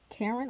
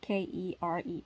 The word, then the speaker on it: Keren: Her mother, Karen, I think that's how you say it, or Karen. It's Keren.